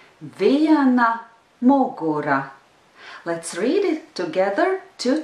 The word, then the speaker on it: viena mugura: Viena mugura. Viena mugura. The rhythm is yes, no, yes, no, no. Viena mugura. Let's read it together two times. Viena mugura.